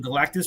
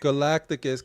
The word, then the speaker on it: Galacticus: was yeah it was fairly PR that custom galatis right there is huge Galacticus get it right Galacticus know I've been I've